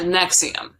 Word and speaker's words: NXIVM: some nexium afterwards but it's not the same next team it's actually spelled like nxivm but it's sad nexium okay mix them all